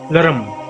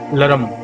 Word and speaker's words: लृं: हुए काम बीज लरम, इस बीज मंत्र को अगर धीमी गति से आप कहेंगे तो इसका उच्चारण होता है लरम, और अगर जब तेज गति से बोलना है तो इसका उच्चारण हो जाता है लरम।